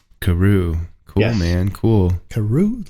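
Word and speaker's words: Carew: say your last name for us it is Karu Karu cool man cool Karu like how do you spell it c a r e w that's it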